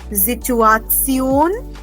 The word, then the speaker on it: Situation: Then we also have the Situation. I will repeat this. A lot of you were having trouble in pronouncing this word. The Situation. Remember, S is pronounced as Z.